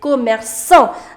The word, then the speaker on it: commerçant: And if after C you have A, then the pronunciation of C is K. However, you don't want to say commerçant. You want to say commerçant. Therefore, you need to apply the accent, because you want to change the pronunciation from K to S. So it becomes commerçant.